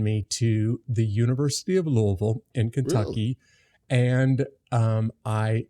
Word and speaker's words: Louisville: Louisville. Louisville. That's right. It is. Not Louisville. We basically slur all of the consonants and just focus on the vowels there.